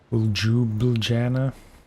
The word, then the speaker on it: Ljubljana: I guess they would say Ljubljana.